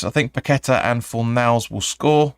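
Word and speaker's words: Paquetá: TSC says I think paquetta and for males will score or packeta I think you should be supposed to pronounce that now um because the accent over is a um but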